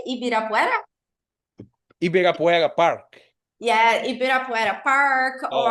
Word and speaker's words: Ibirapuera: Jardim Arapuera. How do you say? Ibirapuera?